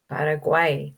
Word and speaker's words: Paraguay: Paraguay.